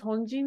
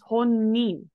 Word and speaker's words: 本人: And specifically it's pronounced as honin rather than jin.